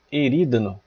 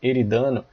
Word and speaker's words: Erídano: E na sequência, a gente tem a constelação de Erídano. Alguns pronunciam Eridano.